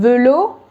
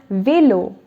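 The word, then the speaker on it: vélo: next word is velo velo would have been willow if there was no accent so now it's velo the next one is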